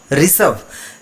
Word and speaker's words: ऋषभ: ये जो री है नीचे वाला, इस पर थोड़ा सा प्रेशर ज़्यादा पड़ता है। जैसे र और र, री और री, है ना? री, ऋतिक, ऋषभ, ऋषभ शर्मा।